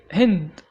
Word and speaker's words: Hind: The vowel in the Arabic name Hind is often pronounced I before ND, like in find, kind, mind, blind, but wind is an exception.